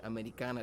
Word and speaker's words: Ameri'kana: our career that we named our album americana but the way you would pronounce it in spanish americana to remind folks the